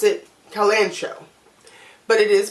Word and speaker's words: kalanchoe: makes me say kalanchoe so I guess the H is silent so because it's either Kellan show only kalanchoe Colin Cowie or coal and coal kalanchoe E or : co